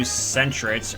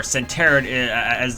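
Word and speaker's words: Sentret: is a level 2 Centret, or Centeret is the way I always like to call it. I always pronounce Centret as Centeret. I don't know why, I just didn't know the proper pronunciation.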